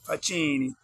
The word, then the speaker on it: Facchini: Facchini. It's pronounced Facchini, so it's like the word fuck, with an ini on the end in Italy.